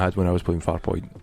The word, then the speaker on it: Farpoint: It's Farpoint, not Farpoint. Farpoint. Not like far, comma, point. It's Farpoint. It's not Farpoint.